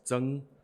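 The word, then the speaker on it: 莊: Zhuang is Zheng.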